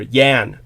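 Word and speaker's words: Jan: it was Jean or Yan in the Slavic languages Jay pronounced like a y so it would be yan yan J aan Yan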